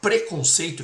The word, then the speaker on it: preconceito: Gente, a palavra preconceito que nós pronunciamos totalmente fechada, ela deriva do pré antes, né?